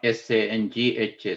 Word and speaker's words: sangha: Sangha is spelled S-A-N-G-A, not S-A-N-G-H-A Sangha. S-A-N-G-H-A Sangha is pronounced is Sangha, which is part of the Triple Gem, whereas here it is S-A-N-G-A Sangha, meaning bond.